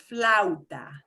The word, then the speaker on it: flauta: And what that means is when I have 2 vowels, I will pretty much run them together as much as I can. I will pronounce them both, but I will kind of slide them together.